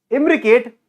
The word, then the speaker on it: imbricate: your imbricate estivation imbricate imbricate what do I say rhymes with Advocate imbricate Advocate Advocate fights